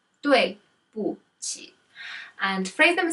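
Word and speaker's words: 对不起: So number 6 is I'm sorry, and it is pronounced as 对不起. 对不起. 对不起.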